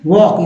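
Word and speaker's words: walk: water she हैज टू वक इसमें एल जो है साइलेंट है तो मैंने य पार्ट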